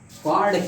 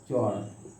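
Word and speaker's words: chord: बात समझ गए अब देखो एक चीज और कार्ड क्या होता है?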